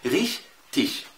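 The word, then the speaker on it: richtig: يا عم الحاج ماشي، ده في الجنوب، ده في جنوب ألمانيا، لكن أنت بتتكلم الهوخ دويتش، الهوخ دويتش بتنطق إزاي؟ ريش تيش.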